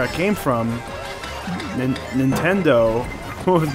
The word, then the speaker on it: Nintendo: nice yeah like there's another one I heard recently - Nintendo 910 doh yeah well I feel